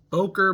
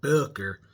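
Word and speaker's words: Böker: about one of my favorite Booker knives, the Boer Magnum. Notice I pronounced it boiler because that's the way the O and the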